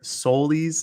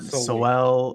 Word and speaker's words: Soley: It's not Soel or Sewell or whatever we all were pronouncing for the last, what is it, August, 7 months, half a year. Yeah, like the last half a year. So it's Sol-E.